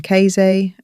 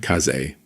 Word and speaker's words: Kaze: This is my husband, Atama, and our children, Keize, Arashi, Senpu, and Pafu. The names should have been pronounced as Atama and Kaze.